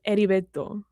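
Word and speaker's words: Heriberto: But he wasn't saying it right and it was driving me crazy. It's edibto. There you go. Cool. You're welcome. The H is silent.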